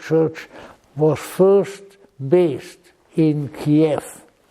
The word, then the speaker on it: Kiev: But the Russian Orthodox Church was first based in Kief, which by the way is not pronounced Ke, which sounds to me like something of a culinary distinction.